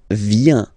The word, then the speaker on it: viens: So the first form is je viens, je viens, okay? Remember this I, viens, viens, and then this nasal, final S not pronounced.